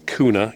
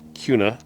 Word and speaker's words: Kuna: Uh, it's pronounced Kuna, K U N A. Um, people in Idaho are going to probably try and pronounce it Kuna because that's a city here in in Idaho